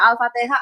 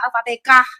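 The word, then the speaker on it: Al-Fatihah: I T gitu Buinnya belum Jowi aja baca Alfatihah Alfatikah protes kau memang itu boleh katanya Bu memang pelafalannya bisa macam-macam katanya waktu aku tanya siapa itu alfatihah alfatihah iya alfatikah kalau wong jawo kadang gitu itu ngomongnya.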